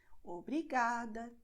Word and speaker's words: obrigada: Because many words have these endings, so they are going to be stressed in the second to last syllable. Obrigada, tarde, obrigado.